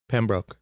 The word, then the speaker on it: Pembroke: I'm here with two-time Stanley Cup champion, the pride of Pembroke, Massachusetts, the great Kevin Stevens. Pembroke. Did I not say it right? Yeah, that was good.